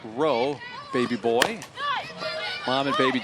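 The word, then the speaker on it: Reaux: is the baby's name r-e-a-u-x pronounced row baby boy mom and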